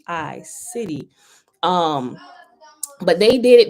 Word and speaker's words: Siddhi: city right s i d d h i city um but they did it the way they